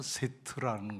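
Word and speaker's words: שֵׁת: 어 셋 아까 말씀드렸죠 셋 하나 둘 셋이 아니라니까요 히브리 원어로 발음하면 세트라는 거예요 세트 트라는 발음이 붙어야 돼 세트 근데 이건 무슨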